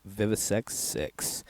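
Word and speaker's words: VIVIsectVI: 666, coupled with the word sect, and it's pronounced Vivisex 6.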